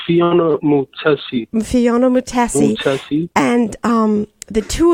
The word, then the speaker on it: Mutesi: Mutesi? It's Phiona Mutesi.